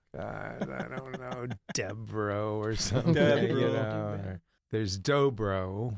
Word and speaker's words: Dobrow: I read it, but I never actually heard it pronounced. Dobrow. Dobrow.